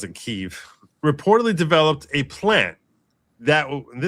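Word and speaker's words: Kyiv: government personnel through USAID in Kiev, or I think they pronounce it Kiev, reportedly developed a plan that you want to hear more specifics about the plan.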